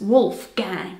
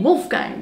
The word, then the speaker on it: Wolfgang: Pronounced with an American accent, it's Wolfgang.